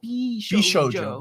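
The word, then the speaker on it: 美少女: FYI, it's pronounced Bishoujo.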